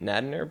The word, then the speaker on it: Nadnerb: So do you prefer then Nadnerb or Nadnerbed? I would prefer that nobody ever pronounce the D. The D is silent.